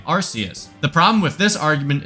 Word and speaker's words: Arceus: You wouldn't say Arceus system or Arce phone, so why would you pronounce the Pokemon's name Arceus?